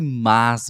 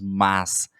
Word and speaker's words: mas: uma conjunção adversativa e basicamente nós pronunciamos mais não é luí nós pronunciamos mais nós não pronunciamos mas ah esse mais tá